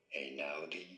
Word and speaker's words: Einaudi: How do you go about pronouncing it? Ludovico Einaudi. Ludovico Einaudi.